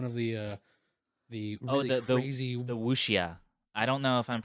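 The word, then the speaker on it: wuxia: movies made fun of the uh the the wushia i don't know if i'm pronouncing it right but it's spelled w-u-x-i-a and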